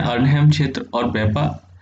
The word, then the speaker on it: Weipa: छोटी जगह है लेकिन आपके लिए इम्पोर्टेंट है, वेप। मैं स्पेलिंग लिख देता हूँ, WEIP, वेपा, WEIPA, वेपा।